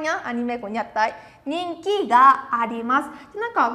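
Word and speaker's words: 人気: Từ này sẽ đọc là nhìn ki nè. Nhìn ki, minasan sẽ nó. Ninki, ninki, rất là tốt.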